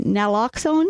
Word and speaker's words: naloxone: Can you pronounce it for me? That Naloxone?